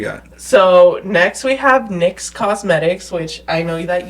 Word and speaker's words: Nyx: Well, their logo is literally just NYX. It's pronounced Nyx, not NYX, but it's named after the goddess of the night, Nyx, and she is one of the OG goddesses.